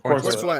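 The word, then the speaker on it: Corenswet: Corn Sweat.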